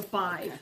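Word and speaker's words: Badb: I heard the word five which spells b a d b but it's pronounced b i v so five b a d b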